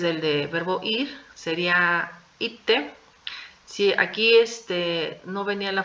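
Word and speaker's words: 行って: Entonces, las dos se van a pronunciar ite. ¿Sí? La de yuku también va a cambiar a ite. ¿Sí? No se va a pronunciar yute, se va a pronunciar ite.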